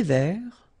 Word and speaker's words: vert: Un thé vert.